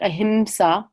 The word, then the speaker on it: ahimsa: pronounced kind of mmm it's not quite an M it's not a hard em like ahimsa but it's a little bit soft a hims a human